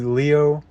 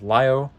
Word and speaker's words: Lio: Evolution Nemesis Lio Convoy technically it'd be Leo but I pronounce it how the Japanese pronounce it which is Lio and I got to